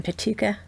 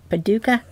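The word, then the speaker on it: Paducah: so again they're in petuka paduka kentucky sometimes i put an extra syllable in there i have no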